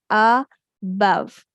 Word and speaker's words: above: Above. Letter O can say short a sound before some letters.